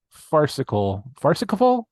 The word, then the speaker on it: farcical: And it is a wacky farcical That's how you that's the proper pronunciation.